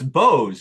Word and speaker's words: Boz: Dickens you know was like No it's it's Bose Boz Bose but I imagine most people of the time and today mispronounced it yeah it just looks like BOS